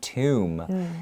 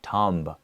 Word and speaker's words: tomb: look at that word tomb even though there is a b you don't usually pronounce it so it's tomb like that and not tumb okay tomb and what